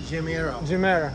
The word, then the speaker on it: Chimera: How to pronounce? Chimera.